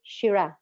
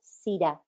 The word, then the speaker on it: Syrah: One of the most marked wines in San Juan, it is called Shiraz, or Syrah, as we pronounce it.